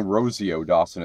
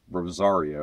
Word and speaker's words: Rosario: You keep saying Rosie Dawson, it's Rosario. Rosario. I keep saying it wrong.